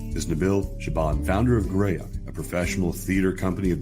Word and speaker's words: Graeae: Well, Graeae is how we pronounce it, as in Graeae. But it's not how it's spelled.